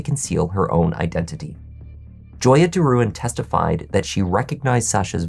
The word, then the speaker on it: DeRouen: My last name is not DeRouen, it's DeRouen.